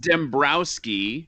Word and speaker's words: Dembroski: i'm like it's dembrowski like bro well it's pronounced dembrowski yeah we lost the w on ellis island